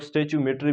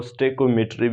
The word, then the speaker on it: stoichiometry: स्टेक्योमेट्री को बाज़ लोग स्टेच्यूमेट्री भी कहते हैं और बाज़ लोग जो है इसको स्टेक्योमेट्री भी कहते हैं, लेकिन नाम से जो है प्रोनाउंसिएशन से कोई फ़र्क नहीं पड़ता।